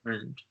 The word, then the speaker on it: learned: So the ed is not like a separate syllable, so it's Yeah. learned. Learn, learn. Same Yeah. with like anything like that. So Culture, culture. With. Learner. learned. Learned, learned. Yeah, it's Learn. one syllable.